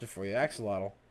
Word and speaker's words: axolotl: Be sure to share with your axolotls, ladies and gentlemen.